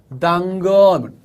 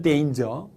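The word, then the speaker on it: danger: 어떻게 지푸라기라도 딴거 이 말입니다 지푸라기라도 딴 것 단건 그쵸 어선이 왜 그렇게 발음을 망치 십니까 이렇게 말하는 경우도 있습니다 물론 이단 의 정확한 발음은 데인즈 데인저 데인저 자 또 어떤 분들은 요 설탕 이라고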